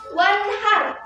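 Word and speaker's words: وَانْحَرْ: Kemudian ada lafaz wanhar di mana mungkin di sini salah ya. E nah apa hukumnya? Hukumnya adalah idhar halqi. Di mana ee itu ada huruf nun nun mati bertemu dengan salah satu huruf izhar yang enam. Apa? Huruf ha. Maka bagaimana ee ee cara membacanya itu harus jelas seperti itu.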